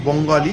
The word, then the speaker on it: বাঙালি: কারণ আপনারা যারা আসবেন অনেকেই তো দেখুন থালি আছে, বেনারসি থালি আছে, ঠিক আছে, বাঙালি, কথাটা একটু উচ্চারণ অন্য আছে, বঙ্গালি, কিন্তু কথাটা হচ্ছে বাঙালি থালি, সাউথ ইন্ডিয়ান থালি, অ্যারোমা স্পেশাল থালি, বিভিন্ন রকমের থালি রয়েছে, সেগুলো খেতে পারেন।